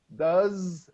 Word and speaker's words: does: it's always what does does remember that the sound is with the Z what does that attack